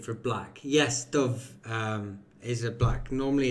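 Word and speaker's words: dubh: Yes, Dove um is a black. Normally it's um dove is um d u b h and then it's been anglicized like dove um um or d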